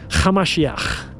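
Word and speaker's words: המשיח: His real name was Yeshua, Hamashiach. That's how you pronounce it in Aramaic.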